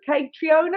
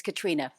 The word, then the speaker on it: Caitriona: guest today um so katriona everyone's saying your name right as as it's phonetically spelled but it's it's katrina katrina welcome if you couldn't